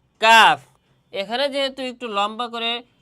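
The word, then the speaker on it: كاف: উচ্চারণের জায়গায় জিহ্বার গোড়া আর কাফের উচ্চারণের স্থান হচ্ছে জিহ্বা থেকে গোড়া থেকে একটু সামনে আগাইয়া কফ আর এটা হচ্ছে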